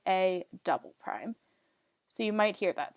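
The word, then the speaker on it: A″: But sometimes, if you translate something twice or reflect something twice, you have A with 2 apostrophes, and that's pronounced as saying A double prime.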